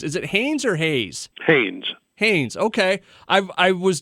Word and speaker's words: Haynes: right off the bat because i've heard it's pronounced different ways is it hanes or hayes haynes haynes okay i've i was doing some research